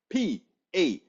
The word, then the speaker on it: Patreon: Patron is spelled Patreon.